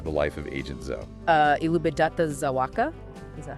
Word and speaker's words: Elżbieta Zawacka: Elżbieta Zawacka? Is that how it's pronounced?